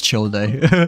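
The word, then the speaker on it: Childe: I I I refuse to pronounce him as child by the way. Uh Joseph, I I still pronounce him as Chile. Like I refuse to pronounce him as uh child. Otherwise, why would there be an E, you know, like after his name?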